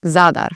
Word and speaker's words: Zadar: I usually hear it Zadar, which is really close to its pronunciation. But again, you're just going to move the emphasis here. So you say Zadar, first part of the word, and then of course the R at the end.